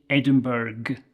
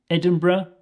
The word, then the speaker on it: Edinburgh: people visiting Scotland might say Edinburg with a hard g at the end but I want you to try to say either Edinburgh or Edinburgh both are perfectly acceptable so you have two choices here you can say Ed in BR edra or you can say Ed in in B ra now let's take a